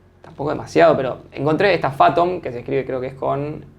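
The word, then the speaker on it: Fathom: automático Pero esta que encontraste vos que es phatom Sí por eso entonces lo que hice ahí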